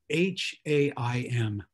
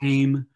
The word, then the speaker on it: Haim: It's H-A-I-M. It looks like Haim. But it's pronounced Haim.